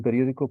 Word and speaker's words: periódico: Periódico, acento en la O, el país, en la I, próximo en la O, ¿vale?